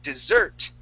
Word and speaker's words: dessert: So it's important that when we are talking about food, okay, with sugar and things like that and bread, we say dessert and not desert.